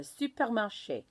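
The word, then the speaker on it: supermarché: supermarche okay the supermarket the supermarche with the accent on the e give it that a sound now here is the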